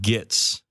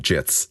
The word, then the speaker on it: Gits: I don't like doing this too much, but the Gloomspire Gits. Please, it's pronounced Gloomspite Jits.